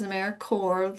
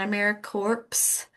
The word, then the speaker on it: AmeriCorps: So Americaore is Americanore like Marine Corps or core of an apple. It's not America corpse.